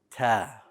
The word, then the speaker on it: ت: But unlike ba, ta does have air. So it has air when you pronounce it. The air for the ta is very important because this is where many common mistakes occur in pronouncing the letter ta in Arabic. If you withhold the air, it will sound like ta, ta. And that is not proper Arabic.